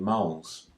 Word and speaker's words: mol: Chemical amounts are measured in moles. The symbol for the unit of mole is MOL, pronounced mole.